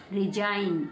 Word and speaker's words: resign: जी के तुरंत बाद एन लगा हो तो केवल एन का उच्चारण होता है, एन का उच्चारण होता है, जी का उच्चारण नहीं होता, जी को नहीं पढ़ा जाता, जी को छुपा लेंगे। तो क्या बन गया? रिजाइन।